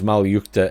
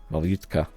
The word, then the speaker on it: Malyutka: Anyhow, the statistics are roughly the same, save it comes with the BMP-1's Malyukta ATGM. Malyutka. I always want to pronounce that with a T at the end.